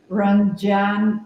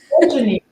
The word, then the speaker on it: Ranjani: Crunch, Ranjan, Jenny? No, Ranjani. Ranjani. Yes, there's the emphasis is wrong.